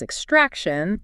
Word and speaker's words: extraction: And the way that we say extraction is extraction, Extract. with that emphasis on that second syllable, Uh-huh.